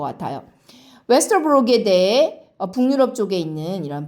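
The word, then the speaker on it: Vesterbrogade: 이것은 어떻게 발음하라는 뜻이냐면 O에다가 입술을 동그랗게 오므리라는 뜻인데 우리나라에도 이런 발음 비슷한 게 있어요.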